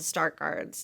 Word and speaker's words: Stargardt: both learned that you had the condition called start guards disease did i pronounce it right you did and um and